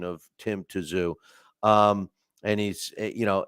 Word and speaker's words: Tszyu: uh is pron correcting my pronunciation of Tim toou um and he's you know it's uh I say I know I I he's saying Zoo you know um listen my show is I can't even pronounce my own last name so you know